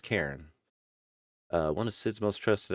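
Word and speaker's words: Charon: It's pronounced Karen.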